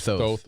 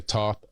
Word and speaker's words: Thoth: T-H-O-T-H. Thoth. Some people say Thoth or Thoth.